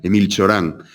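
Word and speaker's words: Emil Cioran: ciorán 8 ahora en en la pronunciación rumana emil ciorán era otro de estos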